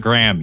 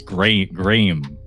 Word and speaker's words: Graham: King Graham King Graham, it's not Graham, you see, it's Gray Graham as the narrator likes to pronounce it.